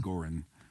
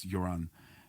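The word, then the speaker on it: Göran: Everybody calls him Goran, but the pronunciation's Joran.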